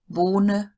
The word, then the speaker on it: Bohne: Now, E at the end of a word usually does get pronounced. So no silent E as in English, but it is a short E. So Ente, Bohne, Frage. Not very long sounds, but they are there.